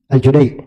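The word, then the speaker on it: الجديع: gitu dia sebut padahal nama orangnya Abdullah bin Yusuf aljudai bukan alj aljudai I kalau tanya kenapa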